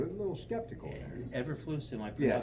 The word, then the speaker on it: Eberflus: Everflus, am I Yeah, pronouncing that? Eberflus, Matt Eberflus, Matt right.